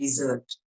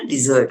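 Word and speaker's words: dessert: उसको क्या बोलते हैं, डिजर्ट। ठीक है ना, डिजर्ट, उसको ठीक से प्रोनाउंस करना होता है। तो हमारे साथ एक गुजराती भाई था, उसको आता नहीं था, वो डेजर्ट डेजर्ट बोले, डेजर्ट डेजर्ट।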